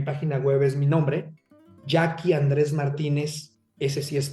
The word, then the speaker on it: Yaqui: Andrés Martínez punto com Acuérdese que el Yaqui se escribe como los indios de Sonora y a q de queso u y latina no Andrés Martínez punto com